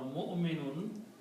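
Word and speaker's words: مُؤْمِنُونَ: Mu'min or mu'minun means believer. So this wow is a chair, it's just Hamza is sitting on it, so don't pronounce wow. Mu'minun, its plural is mu'minun.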